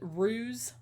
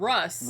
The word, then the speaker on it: ruse: Like I was watching his confession, and he wanted to use the word ruse. Yeah, I remember that one. And he said Russ at first, but then he corrected himself, and then he said it right, like the rest of the time.